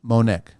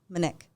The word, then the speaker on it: Monique: sorry I'm sorry okay spelling is the same okay it's just the pronunciation Monique take the O out manic manic that's it all right